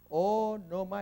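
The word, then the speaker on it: ὄνομα: Onoma. El espíritu mira hacia la izquierda, así que es normal. Acá, cuando va a la derecha, suena como pequeña J. Onoma, el acento va a ser onoma.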